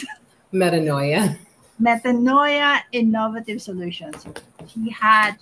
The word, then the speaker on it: Metanoia: How do you pronounce it? Metanoia.